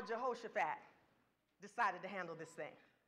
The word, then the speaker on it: Jehoshaphat: mistakes jehoshaphat let me say his name right jehoshaphat begins to clean house when he becomes king